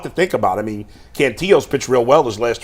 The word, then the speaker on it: Cantillo: I think it is Cantillo.